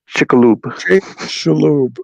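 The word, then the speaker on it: Chicxulub: h i c like chick and then x-u-l-u-b chickaloob yeah okay foreign no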